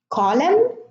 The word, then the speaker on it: column: Now, the N here is silent in all of those words, and in the first 6 words, the N is preceded by an M: autumn, column, condemn, dam, solemn, hymn. Here in government, government has